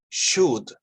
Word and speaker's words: should: correct pronunciation is should. Should. We don't say should. We don't say should. We say should. Should. No pronunciamos la letra L. No la pronunciamos. Es muda. It's voiceless. Should.